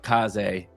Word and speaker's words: Kaze: I've been calling it K's. I know it's Kaz American version of me pronouncing K's.